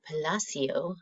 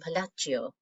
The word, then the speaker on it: Palacio: Palacio. I mispronounced his name earlier. I was using the Italian Palacio.